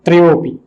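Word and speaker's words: त्रयोऽपि: ये जो अवग्रह चिन्ह इसको हम बोलते हैं, इसका उच्चारण नहीं होता है अवग्रह चिन्ह का, बस ये दिखाता है कि यहाँ पर ए हुआ करता था, जो अब समा गया है, जुड़ गया है, त्रयोपि।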